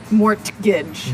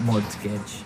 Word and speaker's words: mortgage: with a tee yeah it has a tee in it but you don't pronounce it you say mortgage so not more mortage not mortgage mortgage mortgage I have